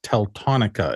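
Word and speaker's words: Teltonika: just wanted to know I kind of mispronounced that pretty badly if you're looking it up it's teletonica it looks like t-e-l-t-o-n-i-k-a just for those of you who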